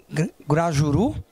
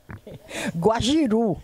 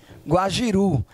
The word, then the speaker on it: guajiru: coisas curiosas a primeira o guajuru como é a pronúncia Guajiru Guajiru a fruta para mim